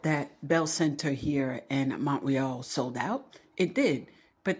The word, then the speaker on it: Montreal: a sellout crowd in Montreal, which is how we pronounce it for those of us here in Quebec. Okay? You say Montreal, it's Montreal.